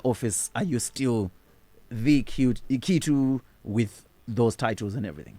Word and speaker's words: Kituu: You should teach me how to pronounce Kituu. Kituu.